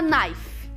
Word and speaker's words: knife: Tem um K aqui na frente, mas a gente não pronuncia. É igual ni. Lembram do ni? Joelho? Então esse K aqui na frente de knife a gente não pronuncia. Então é knife, faca, knife.